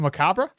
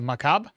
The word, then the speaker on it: macabre: Um, the re in Macabre is silent. So, Macabra Makaba. Macab. Macab. How do you say it then? If the Ray is Ray. Oh, Ray is silent. So, Macab.